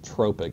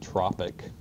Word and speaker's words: tropic: It's tropic, not tropic. Spelled the same as tropic, but it's pronounced tropic.